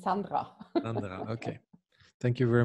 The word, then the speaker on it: Sandra: Am I pronouncing Sandra correctly or is it Sandra? Sandra. Well, it depends on the language, but in Austria, it's Sandra.